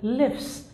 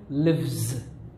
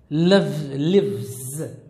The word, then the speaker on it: lives: of the students are are likely to say lives he lives in Canada but actually this is wrong this is a mistake that most of their students make in pronunciation actually this has to be pronounced as lives lives similarly he loves loves this is the